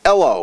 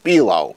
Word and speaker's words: Ello: There are probably few RBDR viewers who are familiar with an emerging social network known as Ello, or Elo. It's spelled E-L-L-O.